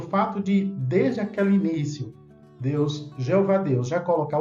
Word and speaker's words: Jeová: E veja que já naquela época, as testemunhas de Jeová não obrigavam as pessoas a pronunciar apenas Jeová. Não, nós reconhecemos que outros falam também Javé, né? E, inclusive, disponibilizamos assim na publicação, porque nós respeitamos também aqueles que escolhem outra pronúncia, outra vocalização.